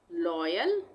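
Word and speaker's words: loyal: तो य पर हो गया जॉय बॉय टॉय लॉयल य हम क्या पढ लॉयल इसको हम कैसे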